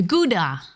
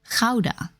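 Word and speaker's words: Gouda: land of cheese C the guda or as it's correctly pronounced Kaa no PLS have [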